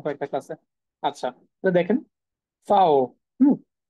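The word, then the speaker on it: Vau: ইংলিশে সেটাকে তারা বলে ফাও ওকে যেটাকে হচ্ছে আমরা ইংলিশে ভি বলি সেটাকে তারা বলে ফাও এই যে দেখেন ফাও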